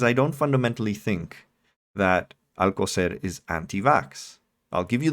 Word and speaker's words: Alcocer: Alcocer. Alcocer made the remarks a week and a half